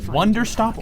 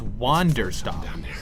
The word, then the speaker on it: Wanderstop: Is it Wonder Stop or Wander Stop? You don't belong here. You're wrong. This is exactly where I'm meant to be. Both. Okay. It's spelled both ways. It's the first game with 2 names. When will they announce Pong 2? Strange place. It's Wander Stop.